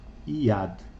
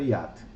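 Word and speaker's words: יד: Yad. E ela se escreve assim: o Yud, que é o Y,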